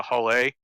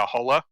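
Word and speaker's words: Hull A: uh i guess some some foreigners didn't realize it like there's a whole a b c d so because it's just the whole a that's out they've been calling it a holla yeah i figured that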